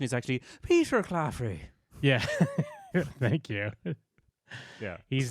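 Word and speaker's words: Peter Claffey: Kingdoms with these two so yeah this is Peter cafy or cfy the the rugby player that I'm seeing here um and then yeah he's playing sorry the correct pronunciation is actually Peter cafrey yeah thank you yeah he's duning the the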